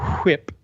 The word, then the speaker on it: WIP: We pronounce that whip. It's a whip.